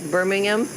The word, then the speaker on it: Birmingham: poshka say in England we have Birmingham and Nottingham but they have a Silent Age so it should sound like Birmingham and Nottingham yeah okay